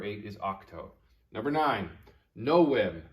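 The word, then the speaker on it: novem: is octo number nine no whim remember this is the latin letter w and it does not make the v sound it makes the sound so this is no whim and no m means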